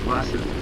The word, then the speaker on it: Wasser: We could try Wasser, which is water, remembering that W sounds like a V. Wasser.